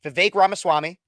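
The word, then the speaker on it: Vivek Ramaswamy: didn't know who he was most people cannot pronounce his name a lot of people still can't but it's V ramaswami uh and now you actually now most a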